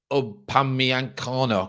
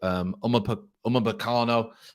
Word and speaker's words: Upamecano: Upamecano, I think you pronounce his name.